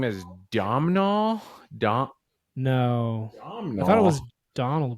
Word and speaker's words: Domhnall: Domhnall. I thought it was Donald Gleason. What is that name? I think it's Hmm.